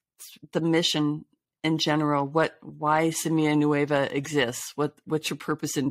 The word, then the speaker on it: Semilla Nueva: But if we could start, just for starters, you are the founder and executive director of Semilla Nueva, which did I pronounce it properly?